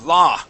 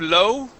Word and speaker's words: law: it okay so yeah instead of low it's La okay low would be like that uh okay so you want to make an a sound when you pronounce that word okay La okay La